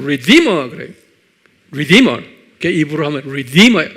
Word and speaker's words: redeemer: redeemer 그래요. redeemer. 입으로 하면 redeemer. 액센트가 D에 있어요.